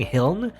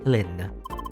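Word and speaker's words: Hlin: I keep saying Hiln, but the L is actually before the I, so it's Helen.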